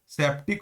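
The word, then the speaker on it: sceptic: तो तो इसी का OWS मीनिंग क्या हो जाएगा, सेप्टिक होता है। यहाँ पे सी साइलेंट होता है, सीधा बोलिएगा, हम लोग मेरे साथ बोलिए एक बार आप लोग, सेप्टिक।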